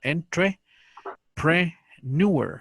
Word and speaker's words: entrepreneur: es lo que cuesta, entrepreneur. O sea que en lugar de ser neur, se dice nuer, es al revés esto. Pero bueno, esto es porque es así, es una palabra adoptada del francés.